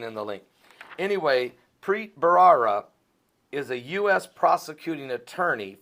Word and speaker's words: Preet Bharara: you guys and and this is how you pronounce this individual's name uh here we go prit barara let's say it again PR barara that's close PR prit barara and I'll put the bar I'll put the